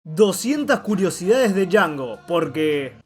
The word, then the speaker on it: Django: 200 curiosidades de Django, porque... The D is silent.